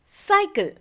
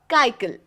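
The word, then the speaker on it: cycle: लेंगे क नहीं इसीलिए सी वा सी एल ई इज साइकल नॉट काइल उसी तरह जब जी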